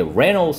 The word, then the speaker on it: Reynolds: 이게 Reynolds 할 때는 R 발음은 약간 우를 넣어서 re 그냥 re 하지 말고 Red처럼 좀 해보세요. 그럼 Reynolds 그러면은 더 알 발음하기가 쉽습니다.